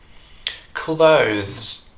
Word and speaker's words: clothes: speakers get this right clothes notice how the th sound here is voiced it's not th but